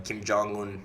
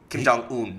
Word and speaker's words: Kim Jong-un: Kim Jong-un.